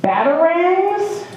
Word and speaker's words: batarangs: So, looks like the next thing here is you're spending about $100,000 on, batarangs? Batarangs, okay, that's how you pronounce it, okay.